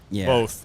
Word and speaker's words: Voth: let's look at austin voth because he's a guy that you know we're going to show you the stats right now a 281 era disappointing pronunciation on austin both rhymes with both because i thought it